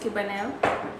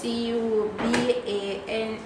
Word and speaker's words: Cubanelle: The pepper is pronounced Cubanelle. Spell it. How is it pronounced? Cubanelle.